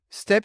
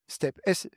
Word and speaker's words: STEP: STEP c'est un acronyme parce que ça se prononce comme un mot, STEP, STEP, donc station de transfert d'énergie par pompage.